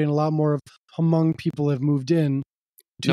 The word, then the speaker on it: Hmong: in that area and a lot more of Hong people have moved in to that area M you don't pronounce the a m okay yeah M people have moved in since